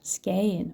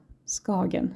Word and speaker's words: Skagen: northernmost point of Denmark, Skagen or Skagen, as some Swedish pronunciation might sound like.